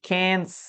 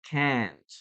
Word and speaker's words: can't: Now remember, I can or I can't. Okay, you can pronounce the letter T there, but it's not like fully pronounced.